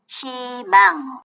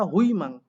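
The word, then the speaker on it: 희망: যেখানেই বসুক হৃষ্টিকার উচ্চারিত হয় খেয়াল করেন ই হেমাং হিমাং হওয়ার কথা হুইমাং কিন্তু হচ্ছে হিমাং পরে না বলছে এখানে দেখেন হিনসেক এটা উচ্চারণ করবে বাট হওয়ার কথা ছিল কি হুইনসেক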